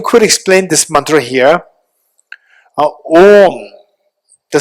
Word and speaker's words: Om: And this syllable Om, in the Buddhist context, it is made of three component, the composing letters, A, U, Ma, three letters.